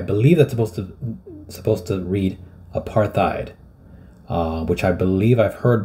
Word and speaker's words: apartheid: This is how you pronounce the word. Apartheid.